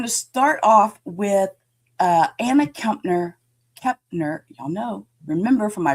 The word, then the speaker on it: Kepner: And so when I see that word, I want to put the M in there and say Kepner. And it's not, it's Kepner.